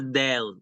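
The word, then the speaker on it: دال: So this is letter Dal, pronounced as d, d, d. It's corresponding to the D in English.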